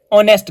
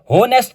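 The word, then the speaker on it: honest: यहां पर आ जाए डश ऑनेस्ट गर्ल अब होनेस्ट तो नहीं होता ऑनेस्ट होता है ओ को हमने देखा ओ वोवेल साउंड होती है इसलिए हम एन ऑनेस्ट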